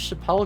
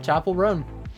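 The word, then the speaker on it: Chappell Roan: I just thought it was Chappelle because that's how it's spelled. Okay, Chapel Roan.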